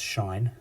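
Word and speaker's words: sinh: s i and H thing mean it's actually pronounced Shine the shine of X well that is the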